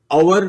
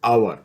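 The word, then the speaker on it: hour: शुड से ए आवर फिर भी silent है तो हम इसे अवर प्रोनाउंस करते हैं यानी कि एक तरह से ओ यू आर इज the pronounce we don't call it हर we call it आवर there फोर आवर से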